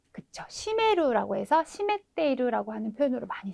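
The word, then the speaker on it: 占める: 시메루라고 해서 시메테이루라고 하는 표현으로 많이 쓰이니까는요.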